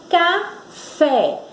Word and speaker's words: café: Na palavra café, qual é a sílaba tônica? Qual é a sílaba que a gente pronuncia com mais força? Fé.